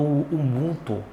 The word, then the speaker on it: Ubuntu: que é técnico do Ubunto ou Ubuntu a pronúncia tanto faz e as duas são possíveis né e ele falou